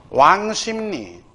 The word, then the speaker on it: 왕십리: 왕심리 WANG 왕 그죠? 와 WANG 심 SIM 심 리 표준 발음 중심이니까 요렇게. 자, 요거 다른 거 구분 좀 해두기 바랍니다.